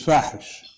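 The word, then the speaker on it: فاحش: My name for it is Fahish. Those who know Arabic know what that means. Fahish means obscene, and it rhymes with Daesh.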